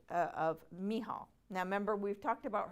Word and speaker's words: Michal: But anyway, we're going to go over a biblical example called of Michal.